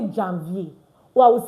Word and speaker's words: janvier: So that's why I'm going to say Janvier. Janvier. Do you see that? Janvier. And of course, it's vier because ER is pronounced A at the end of the word.